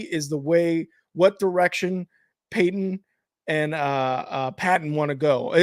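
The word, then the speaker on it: Paton: All that matters, I think, really is what direction Peyton and Patton want to go. Are they both Peyton? Pronounced Peyton? Yeah, they're both Peyton.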